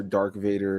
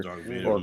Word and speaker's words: Darth Vader: hearing a lot of people call Darth Vader, Dark Vader, Darth Vader. or Obi-Wan, stuff like that. Like very Mm-hmm. interesting pronunciations.